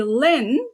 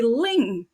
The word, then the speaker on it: Linh: My name is spelled as L I N H and in the US people would call me Lynn but in Vietnamese it's actually Ling.